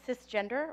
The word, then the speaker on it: cisgender: love you all so this is pronounced cisgender or the shortcut sis this is a new